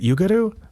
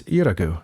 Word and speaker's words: Yuragu: Is it Yugaru? Was I saying it wrong the whole time? No, it's Yuragu.